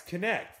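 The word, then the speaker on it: Knecht: You said Knight, but you said it wrong because it is. Yeah, it's Connect.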